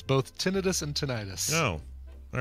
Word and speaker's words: tinnitus: or just like a tinnitus like good thing tinnitus thing yeah was it tendinous how do you say that it's both both are acceptable according to the lady dr.